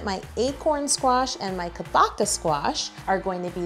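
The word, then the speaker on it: kabocha: I'm gonna ask Google, how do you say kombucha squash? Kabaka. Oh, kabaka.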